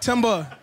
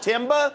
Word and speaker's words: Themba: Spelled Themba, yep. But it's pronounced Timba? Yes, sir. So, like cutting down a tree?